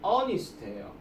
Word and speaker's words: honest: 그래서 얘가 a로 들어갔기 때문에 역시 on을 쓰는 거고 그 다음에 이번에도 보시면은 an honest man이라고 하는데 얘가 지금 발음이 honest예요.